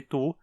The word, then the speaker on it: du: Ele continua sendo pronunciado tu, só que sempre com uma vogal curta por ser átono.